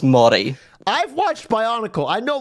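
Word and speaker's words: Māori: One time you pronounce the indigenous word mi as mayori. You said mayori. It is pronounced mi.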